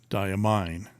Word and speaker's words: Diamine: Marilyn darling should know English says that the E makes the I say its name yeah like it's mine it's yours diamine um if it was